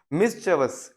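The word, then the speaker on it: mischievous: मिसचेवस, मिसचेवस, मिसचेवस, ठीक है। This is actual pronunciation जो कि होती है, और ठीक है, इसका मीनिंग होता है नॉटी और ट्रबलसम।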